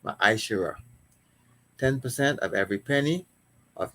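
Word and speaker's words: מעשר: And it means tenth in the Hebrew is pronounced ma'ashera.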